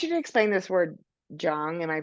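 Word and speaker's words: jeong: Um, and I want you to explain this word Jung. Am I pronouncing that correctly? Yeah. Jung.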